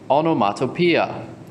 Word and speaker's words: onomatopoeia: a lot of o's it's pronounced the last two parts are pia onomatopoeia it doesn't look so bad now so what is onomatopoeia hmm onomatopoeia are words